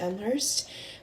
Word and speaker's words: Elmhurst: That's how you say it, Elmhurst.